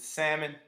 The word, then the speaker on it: salmon: she said it's the not pronouncing the l not sounding the l and sounding for me